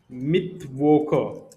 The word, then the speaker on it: Mittwoch: Next is Mittwoche. Mittwoche means Wednesday. This is how Germans used to pronounce Mittwoch.